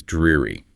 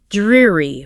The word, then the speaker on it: dreary: The word is dreary. Dreary. Focus on that long E sound in the first syllable.